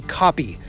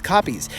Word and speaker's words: kopje: They occur in large groups in what they call in South African a kopje, which is spelled K-O-P-J-E, and it is South African for